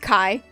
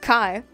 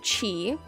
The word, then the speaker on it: Chi: it already um but my name is pronounced Kai spelled Chi but it's pronounced Kai whole thing is Malachi but most people pronounce it Chi or sometimes I've even heard chai so people already get